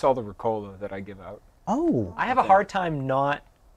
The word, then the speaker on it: Ricola: Ricola. Yeah. Yeah. Yeah. Yep. You have to roll the R's and then the A is like, I don't know.